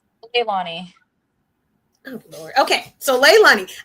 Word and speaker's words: Leilana: How do you pronounce the first name? Leilani.